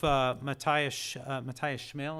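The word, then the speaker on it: Matthias Schmale: The story of Matthias Schmel, is that how you pronounce his name?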